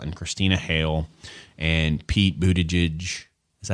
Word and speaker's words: Buttigieg: I think when you've got names like Dan Forrestal and Christina Hale and Pete Buttigieg, is that how you say it? Buttigieg.